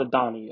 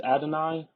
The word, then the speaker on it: Adonai: he pronounces it weird it's not Adon I think it's Adonai I believe I I could be wrong on that but either